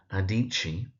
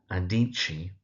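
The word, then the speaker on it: Adichie: We have Chimamanda Adichi. So Chimamanda Adichi.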